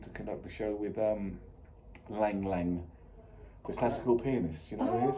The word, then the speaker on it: Lang Lang: I'm going out next week to conduct a show with Lang Lang, the classical pianist. You know who Oh. he is? You pronounce it Long Long.